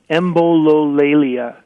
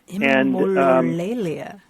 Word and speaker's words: Embololalia: before, and I'm not entirely sure how to pronounce it, but I'll give it a shot. It's Embololalia. Embololalia.